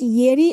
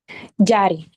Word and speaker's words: Jari: So is it Yeri or Yari? Jari.